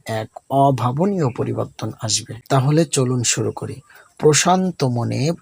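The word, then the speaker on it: ت: বা, খুব সহজ তাই না? তায়ের উপরে 2টি নোক্তা। আপনার জিহ্বার আগা সামনের উপরে দাঁতের গোড়ার সাথে লাগিয়ে খুব মোলায়েম করে উচ্চারণ করুন। তা তা তা।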